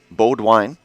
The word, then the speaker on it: Bodwine: Wyatt Bodwine out on the hill for the Falcons. Bodwine. That was the pronunciation I received from the Amherst group.